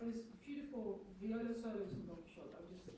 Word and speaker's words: Don Quixote: is doing that in Don Quixote, or like this beautiful viola solos in Don Quixote, Don Quixote, sorry. Keep on saying it wrong. I'm saying it in Dutch.